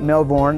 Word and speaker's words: Melbourne: I'm in Melbourne, Australia, or at home you might be calling it Melbourne. I used to say that too, but I kind of picked up what the locals say. So I'm in Melbourne at St.